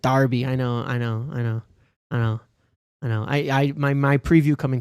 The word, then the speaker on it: Derby: You had an angry Brit in your comments telling you to pronounce it Darby.